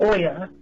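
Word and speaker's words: olla: It's called an Oya, and it's spelled O-L-L-A, and it's made out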